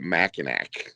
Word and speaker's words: Mackinac: pretty tough you know mackinac is a hard word the way that they spell mackinac city is pretty frenetically sound you know but uh mackinac is spelled m-a-c-k-n-a-c and everybody calls it mackinac so that's mackinac island